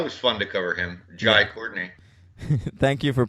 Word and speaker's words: Jai Courtney: Oh yeah, that was fun to cover him, Jai Courtney. Thank you for pronouncing it correctly.